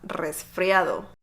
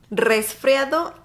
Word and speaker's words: resfriado: I know, you gotta roll your R on this one.